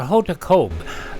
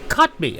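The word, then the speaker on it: Kotb: Hot I always called her Hot Cob, but I got a pronunciation correction. It's Hotba. Uh is 61 today. This is Today with Savannah Guthrie and Hoda Copy. And I still got it wrong. Cotby. Okay, it is cotby.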